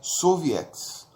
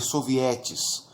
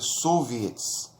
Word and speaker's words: soviets: Conselhos em russo é soviets, os soviets. Em português poderíamos dizer sovietes, né, mas pronuncia soviets.